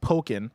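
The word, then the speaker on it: Pokkén: you uh esus says poken is pronounced poken like Pokemon I think I back for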